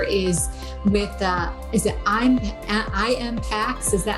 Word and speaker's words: Impax: world funds correct a little bit confusing so impacts is the way that you say asset management